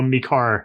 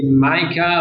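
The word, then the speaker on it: MiCAR: So yeah, I think the pronunciation is going to take a while to get right, but yeah, I've started now. Mikar, that's right. Mikar, yeah. Oh, I think in Europe there is people say Micah, also they say Mika, also they say Mikar.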